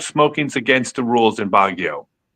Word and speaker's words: Baguio: Is it Baguio? Baguio. I always pronounce it wrong.